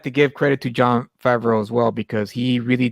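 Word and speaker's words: Favreau: film absolutely and and John favra farra I can never pronounce his last name John favro yeah yeah John favro thank you he was the perfect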